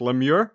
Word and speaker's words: LeMieux: It's called Lemure. Hey, hi Sean. Did I mess it up or is it correct? Lemie.